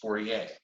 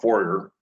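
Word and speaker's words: Fourier: this particular person is called uh Jean Baptist forier now he's a great French mathematician from the 1800s mathematician and physicist so 4A it's how how you pronounce it Americans so prob sometimes call call forer but forier is uh uh made a great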